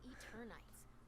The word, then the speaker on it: Eternights: Action games and dating sims collide in Eternights, coming to PS5 and PS4 next year.